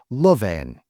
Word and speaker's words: loveen: Lovveen is the word in dialect. In traditional Finnish, it would be pronounced loveen.